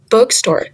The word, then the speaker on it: bookstore: Bookstore. The stress is on the word book.